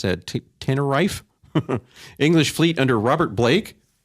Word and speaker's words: Tenerife: in 1657 a battle in Santa Cruz Bay teneri tenery I have no idea how to pronounce that Tenerife English Fleet under Robert Blake Robert Blake you